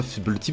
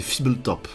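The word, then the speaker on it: Fblthp: de vue parce que c'est pas FIB tip c'est Fibble top c'est comme ça que ça se prononce effectivement c'est le petit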